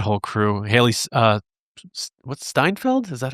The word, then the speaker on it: Steinfeld: Steinfeld. Is that how you say it? Steinfeld.